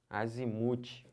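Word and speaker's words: azimute: Azimuth. Azimuth. É o mu que é a sílaba tônica.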